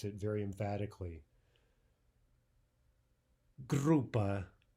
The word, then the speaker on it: группа: Группа, группа. Contrast that with группа, группа. Right? Hear the difference? Группа is what we want to say.